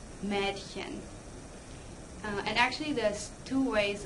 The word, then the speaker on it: Mädchen: Ah, you get Apfel, but ah-umlaut is pronounced eh, like in Mädchen. And actually there's two ways of pronouncing the ah-umlaut depending on dialects, so you could do either one and say, M{eh}dchen or M{ay}dchen.